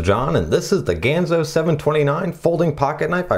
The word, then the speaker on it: Ganzo: have the Ganzo logo I'm probably pronouncing that right Ganzo ganza not Gonzo definitely not Gonzo from the Muppets although Maybe nothing is